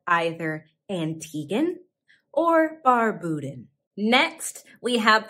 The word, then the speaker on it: Antigua: bar buddha you might be tempted to say antigua but say antigua antigua people from antigua and barbuda are called either antiguan or barbudan next we have the south american